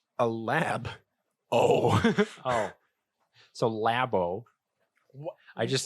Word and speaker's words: Labo: Well, it's a lab. Oh. So Labo. I just sound like in the dumbest. In what universe did you think that it was pronounced? Because Labo sounds like get some tacos and.